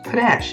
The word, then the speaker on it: panache: pae na CH e that's pronounced an - panache I suppose it is